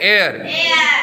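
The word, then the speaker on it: heir: रहे हैं, ऑनेस्ट, इसे क्या बोल रहे हैं, एयर। एच जो है क्या हो जा रहा है, साइलेंट हो जा रहा है, इसलिए इसके पहले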